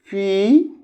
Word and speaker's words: poor: And you see poor, P-O-O-R, P-O-O-R. Somebody speaks, somebody tells, somebody utters or pronounce poor. Poor. This is poor. P U R. Poor. R is silent here.